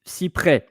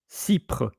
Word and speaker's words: cyprès: Same with cyprès. Because without the accent, it will be cypre.